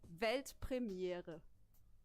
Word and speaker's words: Weltpremiere: It's actually Weltpremiere. Pretty similar, right?